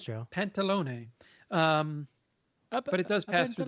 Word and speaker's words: Pantalone: How does that pronounce, Joe? Pantalone.